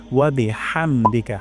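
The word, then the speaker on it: وَبِحَمْدِكَ: করব নাকাল্লাহুম্মা সুবহানাকা তারপর ওয়াবিহামদিকা এর উপর এখানে মার্ক দেওয়া আছে এই হাটা আমাদের গলায় উচ্চারণ হচ্ছে কিনা আমরা দেখব হা গলার মাঝখান থেকে উচ্চারণ করব হামদিকা এখানে উচ্চারণ করবো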